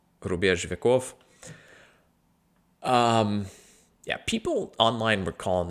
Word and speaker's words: Рубеж Веков: By the artist group, Rubеж Веков, I think is where the ударение falls. I don't think it's Vekov. Yeah. Рубеж Веков.